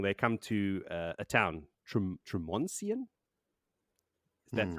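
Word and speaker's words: Tremonsien: But eventually, because they're on the run and they're trotting along, they come to a town, Tremoncian. That's how it's pronounced now.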